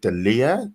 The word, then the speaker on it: D'Elia: The founder of the Proud Boys in the US, the comedian Chris, is it D'Elia? That's how you pronounce his surname.